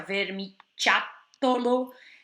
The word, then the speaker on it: vermiciattolo: Olha como escreve, tem a doppia T, a pronúncia vermiciattolo, o ciattolo, ciotola, vermiciattolo, tem essa dança aí.